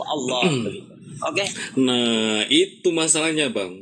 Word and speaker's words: Allah: dibacanya apot nah kata Allah seperti itu walaupun ditulisnya dengan huruf a kaidahnya kembali ke dalam bahasa Arab karena ini fathah dalam huruf yang keras dibaca o lam doble kan dibaca o Allah oke nah itu masalahnya